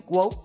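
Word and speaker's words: GWOAT: Like goat but W. Gu.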